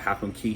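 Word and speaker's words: Half Moon Cay: would say um uh half McKay or some people call it half moon key even though it's spelled c-a-y um San Juan Puerto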